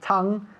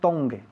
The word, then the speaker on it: tongue: Tongue, la lengua, se pronuncia tongue, tongue, okay? Not tongue, Okay.